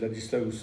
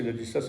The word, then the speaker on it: Ladislaus: Ça se prononce, c'est Ladislaus en allemand, ça c'est Ladislas en français.